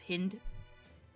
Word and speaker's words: hind: It's pronounced like wind because it's a male deer.